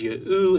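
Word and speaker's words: יהו: The names in these texts demonstrate that the Tetragrammaton would have been pronounced as Yahu in Aramaic.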